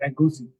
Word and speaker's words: egusi: - Egusi.